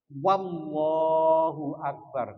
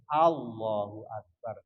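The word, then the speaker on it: الله أكبر: Tidak menambahkan wawu sebelum lafal Allah. Jadi apa? Wallahu Akbar. Nggak boleh. Harus Allahu Akbar.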